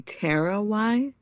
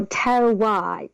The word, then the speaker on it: terroir: Did you say terroir? Oh, terroir. It's a French, so Terroir.